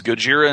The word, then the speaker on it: Gojira: was brought to America the first movie is Gojira in Japanese or in Japan and in America